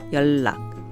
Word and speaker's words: 연락: It's actually spelled 연락, but it's pronounced 연락.